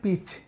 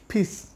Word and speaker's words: piece: ভুলে যেতে হবে এখন থেকে আর নয় পিচ এটা হবে পিস তবে ফিস আরেকটি ওয়ার্ড